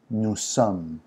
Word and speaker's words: nous sommes: Nous sommes, and the S is silent unless it's followed by a word that has a vowel.